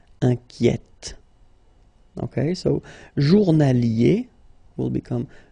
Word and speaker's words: inquiète: Okay, so in that case, it's already open, the sound inquiet, okay? So you only hear the T, inquiète, Okay, so journalier will become journalière, and then inquiet will become inquiète.